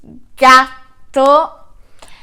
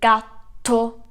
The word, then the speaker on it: gatto: So the first animal I want to teach you is gatto. That's cat and it has double T, gatto.